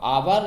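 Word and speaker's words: hour: अब आवर है, आप देखेंगे यह कंसोनेंट नहीं है, ये एच इसमें साइलेंट है, इसको आवर बोला जाता है, आवर बोला जाता है।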